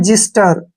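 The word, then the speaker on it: xyster: पर first word है एक्स वाई एस टीई आर इसको हम पढ़ते हैं जिस्टर यहां पर एक्स का जो उच्चारण है व ज के रूप में हुआ है नेक्स्ट है ई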